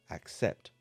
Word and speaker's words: accept: of the word accept the beginning of the word is spelled a c and sounds like this ack the second part of